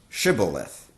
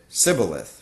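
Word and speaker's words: Shibboleth: said no they said to him then say shiboleth and he said sybileth for he could not pronounce it right then they seized him and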